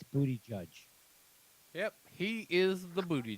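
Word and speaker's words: Buttigieg: If you put a space into that and then ask one of your devices to pronounce Yeah, it, to translate it for you. it's booty judge Yep, he is the booty judge.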